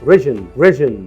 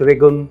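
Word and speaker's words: region: اما الكلمه دي بقى ومعناها منطقه تتنطق ريجن مش ريجون. ولسه في كلمات كتير لازم تتعلم نطقها صح في كرييتيف كورس.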